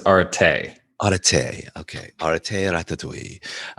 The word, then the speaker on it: Arattai: Pronunciation online says Arattai.